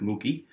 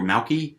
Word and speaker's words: Moukey: is mookie and that's i believe pronounced mookie or malki m-o-u-k-e-y and um it is